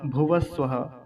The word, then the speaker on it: भुवः: तो भुवः में जो ये विसर्ग है, ये लगभग आधे ह जैसी ध्वनि देगा, आधे ह के जैसी। तो क्या बनेगा, भूर भुवः। अब भुवः को पूरा बोलना है, नहीं तो गलती यही होती थी, भूर भुवा, भुवा जैसे बोल के निकल जाते थे, वैसा नहीं बोलेंगे।